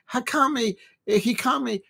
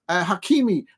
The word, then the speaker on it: Hakimi: Hikami. How do you pronounce the man's name? I've just butchered his name. Hakimi.